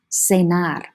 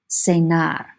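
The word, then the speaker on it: cenar: song to have dinner senar senar a lot of times students will say that i have dinner with john cena because it's spelled the same way pronounced differently spelled the same way say nai to have dinner before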